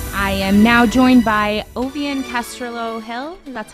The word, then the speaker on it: Ovvian Castrillo-Hill: energeticcity.ca welcome back I am now joined by ovian Castro Hill and that's how you pronounce it right good morning um she is